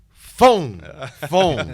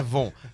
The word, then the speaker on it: Von: Hoje nós temos o Ronaldo Fon, não é Von. Fon, tá certo? Tá certo. Pronúncia de F, escreve com V.